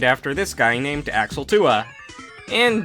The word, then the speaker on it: Thue: this guy named axel tua and yes 2a is pronounced differently from tua because the manual says so so basically 2a is